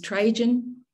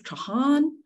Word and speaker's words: Trajan: inscription um the the the anglicized way of pronouncing it is is trajan it is was never pronounced that way is Trahan and I think you'll find that the Italians pronounce it uh even more correct um The The J of course was not pronounced as a j that as We Know It And the reason